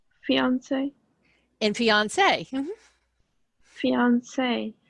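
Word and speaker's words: fiancée: Those two sound exactly alike. One is just spelled with an extra E. The feminine is the extra E. So if you were a man and you were introducing your to-be wife, this is my fiance. And then you would turn around and say, oh, he is my fiance. Same pronunciation, just different spelling.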